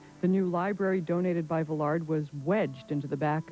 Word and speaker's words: Villard: his name as Villard it does not he said rhyme with Willard and the D is not pronounced the accent is on the last syllable it's Villar other than